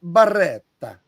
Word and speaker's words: Beretta: Hey, you gotta say it like a real Italian stereotype. Beretta.